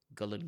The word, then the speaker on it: Gullane: picked up the phone and she said, "Hello, Gullane Golf Club. Lisa speaking. How can I help you?" And I was like, "Hello, okay, so it's Gullane, is it?"